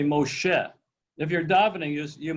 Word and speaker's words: Moshe: you know somebody's saying shabbos all day long moisha moisha shabbos love it when they go to